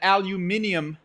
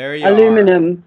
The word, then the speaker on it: aluminium: in there I've noticed that aluminium it's it you might say um but there's no extra I I know but you know what because it's a hard word to spell whenever I want to spell it I say in the American Way aluminum and then you can